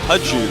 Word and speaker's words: JiTaeHoon: Now, you know, our Terran player, I'm sorry, I feel like I'm going to mispronounce his name. How do I say it? Artosis? HiTaeHoon.